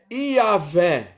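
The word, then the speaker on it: Yahweh: pronunciado introdução porque ele não tem vocal me desculpe gente mas é demais é e h w h e y não é yhwh dos exércitos ou seja que a gente de certa maneira ele pronuncia como se fosse é o mais próximo de dizer se pronunciar é yaveh só que a ver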